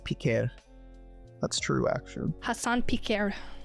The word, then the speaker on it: Piker: Jack, check the Dark podcast if you want to know what's going on between H3 and Hassan Piker, or as it's actually pronounced, Piquer.